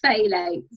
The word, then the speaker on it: phthalates: Phthalates.